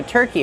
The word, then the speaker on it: turkey: Turkey, use the sound like burger. Turkey. Plus the long E sound like green beans.